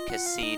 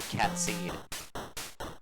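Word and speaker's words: Cait Sith: beefy, and Sid and Cassid need to be beefy for the end boss. And yes, I'm calling him Cassid, not Catseed. I know how to pronounce his real name.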